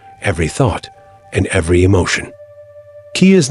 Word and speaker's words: qi: The Taoists spoke of qi, pronounced qi, a vital force that permeates all of existence,